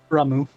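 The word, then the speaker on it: Ramuh: Ramu. Ramu? Ramu. Okay, H Ramu. is silent.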